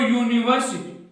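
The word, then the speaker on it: university: अब देखो यूनिवर्सिटी, यूनिवर्सिटी, अब इसका यू ये आ रहा है, उच्चारण किससे हो रहा है, ये से।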